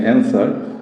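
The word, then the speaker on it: answer: অ্যান্সার বলে, বা কেউ অ্যান্সার বলে আবার আনসার বলে। অ্যান্সার বা আনসার। ব্রিটিশ ইংলিশে অ্যাকসেন্ট একরকম হয়, আবার আমেরিকান ইংলিশে অ্যাকসেন্ট আরেকরকম হয়। যাই হোক, আনসার বলি, এখানে দেখেন ডাব্লিউ কিন্তু এখানে উচ্চারণ হয়নি।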